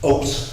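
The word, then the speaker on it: אות: It's oat, like oat.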